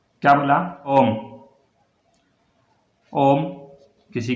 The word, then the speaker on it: ओम: एक लंबा उच्चारण हो रहा है ओ में, ओ में क्या हो रहा है? लंबा उच्चारण हो रहा है, इसीलिए कहते हैं।